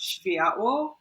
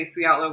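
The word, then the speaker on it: Światło: so spietlo is a polish word it's actually pronounced shivaya but i mean uh we just say sweatlo because our our major markets are india and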